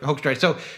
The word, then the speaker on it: Hoekstra: Let's talk about Joel Hoekstra. Is that how you pronounce his last name? Yeah. Hoekstra.